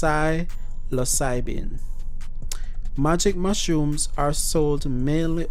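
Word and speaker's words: psilocybin: or arrests related to silocybin are experiment it's pronounced psylocyben magic mushrooms are sold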